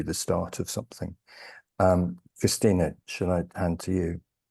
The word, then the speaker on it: Christienna: frier uh so uh despite the spelling of my name it is uh just pronounced Christina um I'm a writer